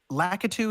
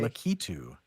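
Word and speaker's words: Lakitu: paratrooper is that latou so la lacu is how most people say it I always said litu I just make words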